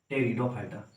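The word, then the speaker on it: Pteridophyta: जिसे बोलते है टेरिडोफाइटा टेरिडोफाइटा में प हमारा होता है साइलेंट होता है इसे बोलेंगे टेरिडोफाइटा अ टे सॉरी टे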